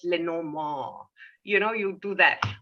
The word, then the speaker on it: Lenormand: for the uninitiated uh if you want to say it like the french would say it's le no more you know you do